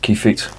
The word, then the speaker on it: Kievit: eight triple from Brewery the key feed I think I say it's pronounced key fit means lap Wing um